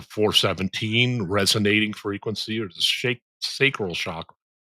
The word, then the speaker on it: sacral: Then it goes up to 417, resonating frequency, or the sacral chakra. Sacral? Is that how you pronounce that?